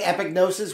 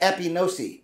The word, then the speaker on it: epignosis: ways i've been saying epignosis which is really my g and my n being close together make it sound like i'm making a c and there's no c